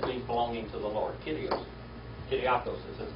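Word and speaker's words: Κύριος: It's not Kurios, it's Kyrios. All right? Like a Y.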